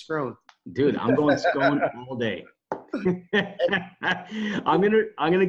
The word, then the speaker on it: Scrone: okay what I say scones groan what is it yeah I'm not an Italian dessert buddy my last name's grown dude I'm gonna I'm